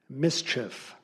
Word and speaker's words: mischief: Your word is mischief. Mischief. Alternate pronunciation, mischief.